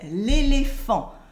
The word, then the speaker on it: l'éléphant: We say l'éléphant. Repeat after me, l'éléphant. The T is silent and P and H in French make the sound F.